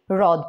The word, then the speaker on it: হ্রদ: আসবে আর এটাতে হচ্ছে হ এর সাথে যদি র ফলা যুক্ত হয় তাহলে কিন্তু সেটা সরাসরি র উচ্চারিত হবে যেমন রদ এটাকে হ্রদ বলবো না হ এর ভাব এটাতে আসবে না এটা সরাসরি রদ বলবো রেশা বলবো হ্রাস বলবো